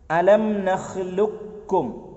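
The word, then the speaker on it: ألم نخلقكم: ഒമ്പതാമത്തേത് ഖാഫിനെ കാഫിലേക്ക്, അലം നഖ്ലുക്കും, നഖ്ലുക്കും. ക് എന്നുള്ള അവിടെ ഉണ്ടല്ലോ ക്, ആ ക് കാഫിലേക്ക് ചേർന്നു, അപ്പൊ കാഫിന് ശബ്ദ് വന്നു, ക് എന്നുള്ള ഉച്ചാരണം പോയി. അലം നഖ്ലുക്കും, നഖ്ലുക്കും, ഖാഫ് പോയില്ലേ, കാഫിന് ഉച്ചാരണം മാത്രം.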